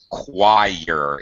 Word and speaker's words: choir: Choir. It doesn't really look like that, but it's kind of spelled as if it has a W sound.